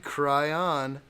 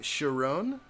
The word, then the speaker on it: Chiron: they are coming let's see Jacob says Bugatti kryon it is pronounced Bugatti Chiron similar to steer room right is that true